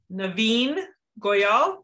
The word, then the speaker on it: Navin Goyal: most amazing last two episodes with uh dr naveen goyal did i say it right you did say